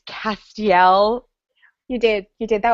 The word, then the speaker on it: Castiel: so that was fun that was apparently I pronounced Castile wrong it's Castiel you did you did that was the best